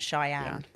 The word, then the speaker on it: Cheyenne: some another complicated one that's how it's meant to sound Cheyenne and if I had